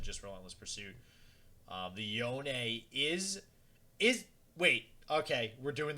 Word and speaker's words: Yone: I've always said Yone just because, I don't know, I think it's because he's Yasuo's brother, and like you get that like Yasuo, like you pronounce that last sort of vowel.